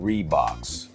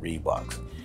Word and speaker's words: Riwbox: get that going so according to reeboks right read box that's that's how we are pronunciating their name here on this channel reeboks on the box it